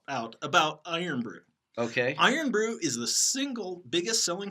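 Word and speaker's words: Irn-Bru: I'm on board there's a soda called iron brew now I wanted how do you spell that it's spelled I are in B are you and what does it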